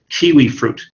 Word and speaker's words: kiwi fruit: So anyway, the right way to say it is kiwi fruit. Kiwi fruit. Kiwi fruit. So be careful with the T at the end of fruit.